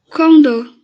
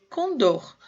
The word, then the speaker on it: Condor: Condor. Condor. Última sílaba, tônica.